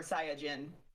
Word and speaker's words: Saiyajin: if you oh no, I almost will actually, but you can pronounce it Saiyan or Saiyajin.